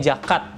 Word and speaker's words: jacquard: Lalu selanjutnya ada namanya kalau istilah dunia per jerseyan itu namanya jakat, tapi bacanya tulisannya jacquard gitu ya sebenarnya.